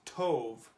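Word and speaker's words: טוב: This word is pronounced tov. Tov. It's kind of like a T-O-V noise.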